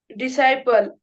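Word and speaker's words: disciple: आय पी एल इ डिसाइपल शिष्य पहा या सर्व शब्दांमध्ये सी हे लेटर सायलेंट लेटर आहे अब्सेस रिपीट अब्सेस असेंट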